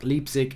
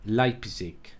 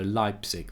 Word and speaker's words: Leipzig: from Jack Alba hurt me he says Mark Leipsic is pronounced like pisac Leipzig live six instead of Leipsic so Leipzig there you go mark how many girls will